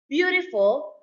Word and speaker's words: beautiful: Beautiful, stress on the first syllable.